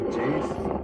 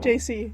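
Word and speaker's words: Jaycee: Is it JACE? It's J-A-Y-C. It's spelled J-A-Y-C-E-E. YCE? Yeah. Oh, I think that's JC. I think he. Yeah, I think you pronounces said it right Jace.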